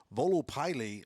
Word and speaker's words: Volo Pylae: He goes by the name of Volo Pylae. Now, I don't know if I said that right. No, you said it right.